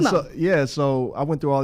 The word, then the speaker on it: DMO: It's DMO, but it's DMO, yep. How do you come up with that? It's pronounced Demo.